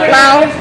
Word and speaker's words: Lau: Eric Lowe is and being distracted by us. Eric Lowe is pulling off a win on this one. Lau. Eric Lau. I say it wrong.